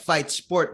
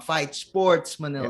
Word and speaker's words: Fight Sport: wrestling first of all thank you so much for pronouncing our company right fight sport Manila because a lot of people get around fight Sports Manila that's what but it's fight Sport and yeah it's a